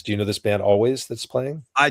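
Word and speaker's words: Alvvays: Yeah, they spell their name with two V's, but it's pronounced always.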